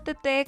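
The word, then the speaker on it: Teté: Mi nombre es Teresa, mejor conocida como Tete con acento en la E, psicóloga de profesión con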